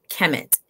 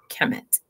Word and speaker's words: Kemet: And the glyphs would actually spell it K, for those of you who don't know, K-M-T. To say it, to articulate it, there has to be some vowel in it.